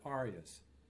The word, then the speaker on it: aria: In Baroque operas, there are only two kinds of singing: recitatives and arias. Note how we pronounce those words: recitative, aria.